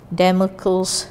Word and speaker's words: Damocles: in the language demo calls s wo Rd Damocles sword you have never heard of this before